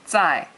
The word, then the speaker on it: 在: 在 means at. I've written that up there. At, and it's a fourth tone. And fourth tone is, it sounds like you're yelling at somebody really short.